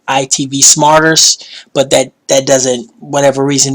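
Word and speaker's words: IPTV Smarters: Shout out to IPTV Smart, or I call it ITV Smarter. It's actually pronounced ITV Smarters, but that doesn't, whatever reason, that just doesn't fit my vocabulary pattern, so I just call it Smart.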